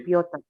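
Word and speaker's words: Пётр: Tapi karena ini ke bahasa Rusia jadinya bacanya Piotr.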